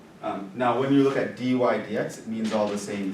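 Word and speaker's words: dy/dx: No, you need to know how to say it. It's dy dx. That's how you say it. So I'll say dy dx. Everyone knows I mean dy divided by dx, and everyone knows I mean, oh, that's the slope of the tangent line. Right? So it's pronounced dy dx.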